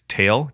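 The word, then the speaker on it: Tatl: I pronounce this character's name as Tael, Tael, Tael.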